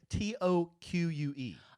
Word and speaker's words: toque: T-O-Q-U-E.